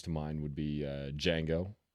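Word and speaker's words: Django: mind would be uh D Jango the D's silent uh with uh with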